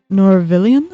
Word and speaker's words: Norvillian: I don't think I've heard of Norvillian. Is that how you pronounce it? Yes, exactly. Norvillians.